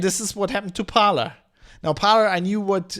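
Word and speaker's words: Parler: i think it's called according to the internet it's it's it's pronounced parlor uh somebody who did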